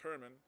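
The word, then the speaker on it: Germán: His name is Herman, and it's spelled with a G. So it's not pronounced German. It's pronounced Herman. In Spanish, the G has both a soft G sound and a hard G sound. And the soft G sound is an H.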